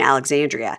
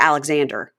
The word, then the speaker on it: Alexandria: in Alexandria and then he just started shortening it to Alexander who are you staying with there in Alexander it's like eie if you're gonna bch my town at least say it right yeah oh EB and